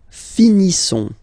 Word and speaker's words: finissons: Nous finissons. Okay, ISSONS. Ils sont. Nous finissons. Finissons. Okay, final S not pronounced.